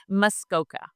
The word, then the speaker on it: Muskoka: It's Muskoka.